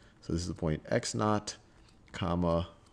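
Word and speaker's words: x₀: is x sub, well, this is pronounced x naught, or you just x sub 0 is just x naught.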